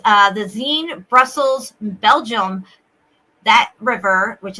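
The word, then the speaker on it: Senne: Okay, so this one this one says uh the Zen Brussels Belgium that river which is the Zen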